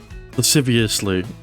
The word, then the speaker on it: lasciviously: bro oh well yeah Adrian Googled lasciviously I've listen I I I I've seen the